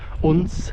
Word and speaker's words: Odense: We're just kind of outskirts of Odenza or UNS as they call it here. They call it Un.